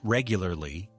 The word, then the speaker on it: regularly: Make sure you get that R sound in there and the L. Regularly, it can be a bit of a tongue twister.